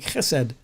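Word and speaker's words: חֶסֶד: And that word is simply this, chesed. And my Hebrew friends taught me how to say it. It's a guttural kind of pronunciation, and the emphasis is on ch, like chesed, like you're clearing your throat almost.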